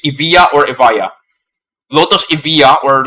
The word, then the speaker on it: Evija: I know it's British, but then Britain has a history with Vikings, so the letter J can be a letter Y. So therefore, it's Evija. That's the correct way. It's Evija or Evija.